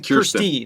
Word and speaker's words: Kirsty: Kirsty. That's what's throwing me off. I was like, is it Kirsten or Kirsten? They said it rhymes with thirsty, Kirsty.